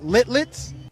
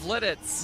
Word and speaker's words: Lititz: screen going right now i can't pronounce it littlet i think it's lititz lititz okay lititz linux pa